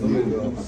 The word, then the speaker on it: Louisville: Doing a panel right now in Louisville.